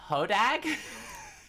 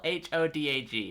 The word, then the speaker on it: Hodag: It's called Hodag. It's spelled H-O-D-A-G.